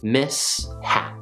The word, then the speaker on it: mishap: case the first syllable is miss so we get the s sound from the s and the second syllable is hap so we get the h sound from the h miss hat the first syllable is